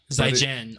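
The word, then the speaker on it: 再见: Why does it sound like a J? Like Jin. Zaitian. Zaijian. But it doesn't sound like people say it with a T. Because they don't pronounce T's like we pronounce T's. It's fucking different country, Travis. It's like a TS sound.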